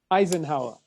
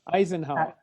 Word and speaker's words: Eisenhower: it's called is an Eisenhower Eisenhower so there's no H that each is silent either yes yes so it's